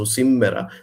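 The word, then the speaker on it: σήμερα: We pronounce it with a double M in Cypriot Greek, so simera.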